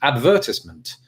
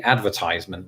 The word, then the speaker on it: advertisement: out, you know, in its most lengthy form, for us, weirdly enough, it's advertisement. And for you, I suppose it'd be advertisement, wouldn't it? So it's both. You both change the emphasis and also the kind of the manner in which you say it, I suppose.